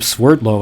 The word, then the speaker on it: Sverdlov: And you discovered, hey, there's a Sverdlov, and he used to pronounce his name Swerdlow, and at least the people who introduced him in interviews, now I always hear them say Sverdlov, and I don't actually